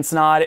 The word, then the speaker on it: Snod: my name is snod it rhymes with odd and welcome to another